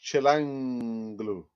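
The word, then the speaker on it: Çalhanoğlu: So it's pronounced Chilanglu.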